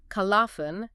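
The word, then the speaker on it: خَلَفٌ: Khalafun, with the lam pronounced, generally means a good, worthy successor, someone who carries the torch forward.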